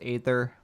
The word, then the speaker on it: Aether: Mediox Core says Aether. Yan Folly says neither. Aether rhymes with neither.